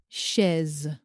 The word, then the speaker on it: chaise: Et nous avons le S qui se prononce z comme la lettre Z quand le S est placé entre deux voyelles comme dans les mots vase chaise.